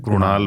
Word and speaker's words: कृणाल: तो उससे सब कृष्ण से ही रिलेटेड एक नाम है कृणाल, जिसमें कि उस नाम का खिलाड़ी है कृणाल पंड्या, लेकिन उसको बोलते हैं कृणाल पंड्या, तो हम उसको लिखते भी कृणाल हैं,